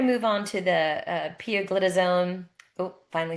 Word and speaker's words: pioglitazone: Um, so now we're going to move on to the uh poglitazone.